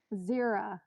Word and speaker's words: Zera: zero with a z zera like zero but feminine yeah yeah so zero with an a at the end zero yeah am i